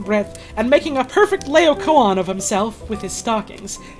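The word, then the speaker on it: Laocoön: Wikipedia says it is pronounced Laocoon.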